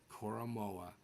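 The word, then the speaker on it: Jeremiah Owusu-Koramoah: Sanchez you're Mark sancheese Mark sancheese until you pronounce Jeremiah U koroa correctly Mark sanche I'm sorry Mark San Danny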